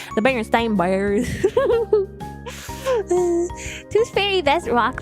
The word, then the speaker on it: Berenstain: Berenstain Bears is a super easy one to explain too. It's pronounced Steen.